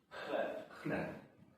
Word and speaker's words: chleb: Chleb. Oh, wait. Chleb. They say like a P at the end, not a B.